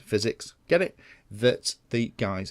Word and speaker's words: FiziX: This is actually the new FiziX frame, spelt F-I-Z-I-X, but pronounced physics, get it, that the guys have produced.